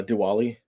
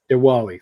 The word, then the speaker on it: Diwali: other holiday I do not know how to pronounce that uh Diwali Diwali thank you to those who celebrate Bob Fisher